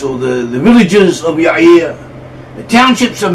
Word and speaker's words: Yair: it should be pronounced y or at least that is how it's pronounced in Hebrew and that is also